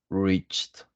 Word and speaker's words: reached: But for example, in this word, decided, we have to pronounce the letter E, yeah, decided.